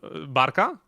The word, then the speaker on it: Barka: to Rot and we listened to uh Bara. Oh, you're getting like the proper Polish treatment. Barka.